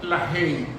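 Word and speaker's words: LaHaye: libro de dos norteamericanos, Tim la he que se escribe la ay con h a y e y el otro se llama Jin.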